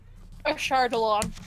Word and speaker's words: Ashardalon: Okay, so the dragon's name, just to refresh everybody's name, is Ashurdalan. I'm sure I pronounced that correctly. Just, you know. Ashardalon. Ashurdalan, thank you.